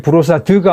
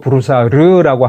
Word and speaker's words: Brossard: 그러면서 누가 이렇게 브로사드가 아니고 브로사르라고 한다 그러면 그러겠죠.